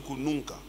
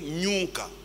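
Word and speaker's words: kunuka: En Swahili, on dit kununka, n'est-ce pas? Elles disent toujours nyunka.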